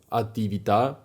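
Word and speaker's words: attività: A osobno jako trzeci i ostatni podpunkt właśnie te słowa, które mają akcent na ostatnią sylabę. Tak to wygląda jak na przykład te dwa słowa, które już padły. Ativita, felicita, aktywność, radość.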